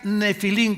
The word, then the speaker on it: nefilim: Había nefilim phomena. Nepilim se escribe en el hebreo. Se pronuncia nefilim, como si fuera f de Francisco.